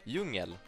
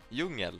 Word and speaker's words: djungel: This is jungle in Swedish. Djungel. Djungel. This is djungel with a J. We learn J as J. It's literally how it's pronounced.